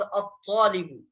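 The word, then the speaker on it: الطالب: और हुरूफ शमसी में से होने की वजह से अलिफ लाम के बाद हुरूफ शमसी आने की वजह से यहाँ पर लाम को साइलेंट किया जा रहा है, नहीं पढ़ा जा रहा है, और उसके बाद वाला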